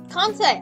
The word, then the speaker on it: Kansei: Kansei!